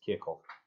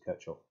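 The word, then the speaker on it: Kirchhoff: to say a pronunciation i keep forgetting how to do it kierkov i kept it i think for ages i had to lose kirchoff which was incorrect so let's go back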